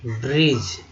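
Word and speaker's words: bridge: Next है सेतु, ठीक है, ब्रिज। अब देखिए ब्री हो गया, डी जे को ज बोलते हैं, ठीक है, ज बोलते हैं, जिसमें डी जो है ये है साइलेंट है, ठीक है, साइलेंट है।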